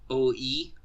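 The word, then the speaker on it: Ōi: has a lovely, lovely given name of OE, but you gotta, make sure the vowels are stressed, so there's, a dash or an apostrophe in there usually, so you know how to say it.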